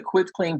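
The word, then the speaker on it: quitclaim: It's quit, like, hey, I quit this game. It's a quit claim deed, and I just tell that because a lot of people say quit like running fast.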